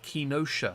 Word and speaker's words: Kenosha: i forget uh before we continue april uh kinosha because that's pronounced announced apparently uh thank you for the